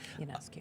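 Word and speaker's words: Ionescu: Yanescu.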